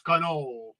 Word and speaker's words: cannoli: You're not supposed to pronounce the I. It's cannoli.